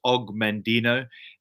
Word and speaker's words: Og Mandino: This book is of course being Afrikaans, you would pronounce it differently to me, but I pronounce it as Og Mandino.